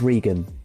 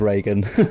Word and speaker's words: Reegan: It's Regan, but Regan. I know why you said Reagan.